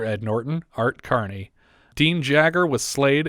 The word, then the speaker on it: Jagger: hero with another ed norton art carney dean jagger was slayed it's pronounced jagger but when i saw his name in the opening credits i said hey dean yeager that's what i said too which is a